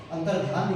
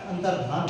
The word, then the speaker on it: अंतर्धान: हैं वापस होता है यह अंतरध्यान लिखा होता है जबकि यह अंतर अंतर्धान होता है इसको गौर से देखें आप ये अंतर्धान शब्द होता है कृत्य कृत्य आपको